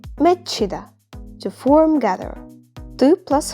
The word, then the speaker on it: 맺히다: chu plus hu is going to be pronounced as ch, 맺히다, to form, gather.